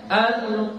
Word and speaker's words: القرآن: Ya, angkat pangkal lidahnya. Al-Qur'anu. Coba. Al-Qur'anu. Ya, pangkal lidahnya diangkat ya. Jadi jangan lagi dibaca Al-Qur'an, Al-Qur'an bukan ya. Jadi kita baca Al-Qur, pangkal lidahnya diangkat sini.